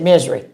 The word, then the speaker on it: Missouri: And everybody there was was from they always said misery. They never said Missouri or, you know, they always said misery.